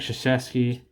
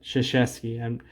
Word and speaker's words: Krzyzewski: Mike Krzyzewski. That's how you say it. That's how you say that. Krzyzewski. It doesn't look like it, but Lenny Wilkins.